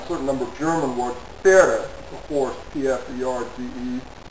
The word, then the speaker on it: Pferde: P and F words, I mean, in Indo-European languages, apparently in the beginning, P's and F's were pronounced together. You still have that on a certain number of German words. Pferde, a horse, P-F-E-R-D-E.